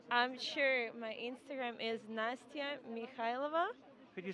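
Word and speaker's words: Nastya Mikhaylova: your instagram please i'm sure my instagram is nastya mikhailova could you spell that for us i'm sure it's n-a-s-t-y-a that's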